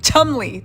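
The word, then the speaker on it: Cholmondeley: the martinis of tum chumy Chumley Chumley right Chumley there we go I still don't understand why British people use a bunch of syllables and vows just okay anyway let's move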